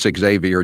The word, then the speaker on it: Xavier: Is it Xavier or Xavier? It's Xavier, I believe, isn't it? Can you check? Yeah, I think it's Xavier. Not like Francis Xavier Joyce.